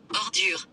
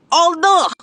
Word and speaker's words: ordure: In French, trash is ordure. Ordure! Ordure!